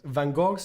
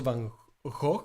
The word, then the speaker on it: Van Gogh: Supposedly it's pronounced also Van Gogh. It's not really Gog, how many people pronounce it.